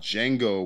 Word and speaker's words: Django: You could say Django. Django with the D is silent.